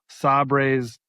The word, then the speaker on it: Sabres: I want a Buffalo Sabres, right?